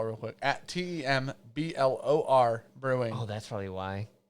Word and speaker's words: Temblor: You're going to ask the person that can't pronounce doers? Temblor Brewing. At Tem. Okay, I'm going to just spell real quick. At TEMBLOR Brewing.